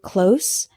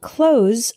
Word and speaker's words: close: station the word close with the Z sound is a verb this means to shut the opposite of open for example please close the door when you leave both close and close are spelled CL OS